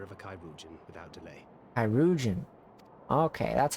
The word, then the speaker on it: Chirurgeon: Chirurgeon.